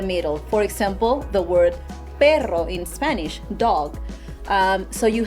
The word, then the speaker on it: perro: Separate it in those two syllables and go per-ro, per-ro, per-ro. Instead of perro, because you can't, right.